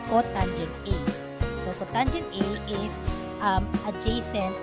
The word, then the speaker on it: cotangent: And the reciprocal of tangent A is called cot A, and this is pronounced as cotangent A.